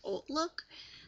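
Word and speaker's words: HauteLook: look I pronounce that hot look but some people pronounce that old look but I like to say hot look because it starts with an H and it's a website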